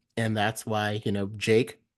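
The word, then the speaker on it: JVKE: that's why you know Jake um an artist who came by it's spelled like JV ke um you know he went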